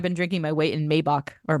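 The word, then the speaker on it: Maibock: I feel like I've been drinking my weight in Maybach or Maibach. Maibach is how it's pronounced this season, which is sort of the springtime equivalent of Oktoberfest from Germany.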